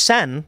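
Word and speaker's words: Seine: Sanders says the sen is pronounced sen like in Sensei oh there you go the river sen there you go humans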